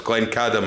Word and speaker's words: Glencadam: you've also brought some of the third, is Glencadam and Tomintoul. Indeed, yeah, well done.